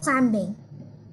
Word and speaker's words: climbing: Rock climbing. Rock climbing? Nhớ là chữ M con nhé. Rock climbing. Chữ B ở đây là âm câm.